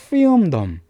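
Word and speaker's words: filmdom: 또 이거 발음 어떻게 해줍니까? 필름덤. 필름이 아니라 필름이라고 발음해줘요.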